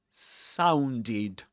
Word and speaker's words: sounded: or d, if a regular verb ends in t or d in the infinitive form, that is to say, as you find the verb in a dictionary, when you add the ed ending, you pronounce that ed as id.